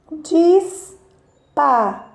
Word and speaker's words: disparate: Qual dessas sílabas da palavra disparate tem o som mais forte, tá ok? Então, disparate. Olha, disparate. Então, neste caso, nesta palavrinha, a sílaba mais forte é o Rá.